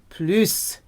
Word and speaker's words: plus: more in French please sometimes it's pronounced pluse this could be a lesson where you hear the s less more or less